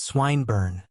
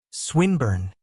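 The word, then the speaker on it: Swinburne: swatted meant this man's swine bur he began attempting to put his plan into execution and pronouncing the eyong who swinburn he repeated with the same mispronunciation the poet swinburn she corrected yes that's the chap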